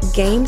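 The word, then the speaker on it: Gaiam: for worry-free workouts try game silver lining pants they're only $20 at Gamescom and game is spelled G a I a M as in my and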